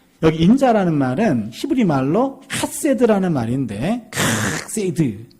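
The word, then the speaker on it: חסד: 이 킥세드라는 말인데 발음 어떻게 하는 거냐면 가래 뱉기 직전이에요.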